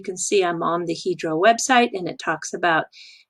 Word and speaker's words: Hydro: So this division is called Hydro, not Hydro. They pronounce it Hydro.